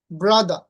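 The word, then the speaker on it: brother: কিন্তু British Xcent অনুযায়ী হবে মাদা সিস্টা ব্রাদা।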